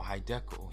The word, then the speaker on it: Hiddekel: So in chapter 2 verse 14, the name of the third river is Hiddekel, which is spelled Hidde, as in hide, hidden or hide, and in Kel, Hiddekel, hidden.